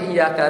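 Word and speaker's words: إِيَّاكَ: sah salat contoh yang iyaka tadi pernah dicontohkan kalau kita bacanya benar yang benar itu bacanya iyaka na'budu dengan tasdid tasdid itu maknanya dua huruf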